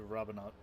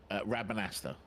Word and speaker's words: Rabanastre: Welcome, Putai descent into Rabanat. Pronounce that city name again? Rabanastre.